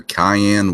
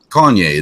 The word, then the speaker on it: Kanye: divorced but didn't that Keen West or Cayenne West what however you say his name Kanye pepper Kanye that's it wasn't he one of